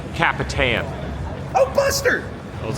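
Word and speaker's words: El Capitan: It's pronounced a little bit, not Captain. It's Capitan.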